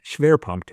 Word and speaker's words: Schwerpunkt: As Boyd studied German tactics, words like Fingerspitzengefühl and Schwerpunkt became everyday expressions.